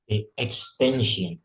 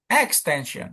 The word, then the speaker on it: extension: Nah, ini contohnya gimana berarti Pak extension tuh kan extension bukan extension bukan atau extension gitu bukan. Jadi bukan sin-nya, tapi yang itu di tengah ya, extension.